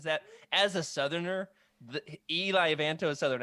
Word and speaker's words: Eli Vanto: Do you mean Eli Vanto? Eli Vanto. That's the way he's pronounced in the audiobooks.